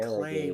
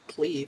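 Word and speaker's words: Klei: Please be clay. What is No, the you're company rocks. called Clay? Yeah, it's pronounced clay, apparently. I thought it was pronounced clee for the longest time.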